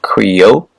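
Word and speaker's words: cryo: counter correct counterclockwise cerat prefix c r yo pronounced Creo or qua meaning ice examples cogenic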